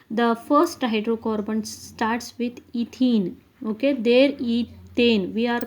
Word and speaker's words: ethene: first hydrocarbon starts with ethene. Okay, there ethane we are pronouncing as methane, ethane, pentane, like that. It is ends with ene, that's why we want to pronounce as ene only, that is ethene.